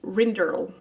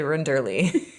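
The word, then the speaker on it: Rinderle: And that teacher's name is Katie Renderle. Yeah, that's a good pronunciation. That's better than what I was going to say. I was going to say Renderly.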